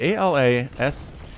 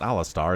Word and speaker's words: Alasatar: A-L-A-S-A-T-A-R. Oh, that's not Alastair. It's Alasatar.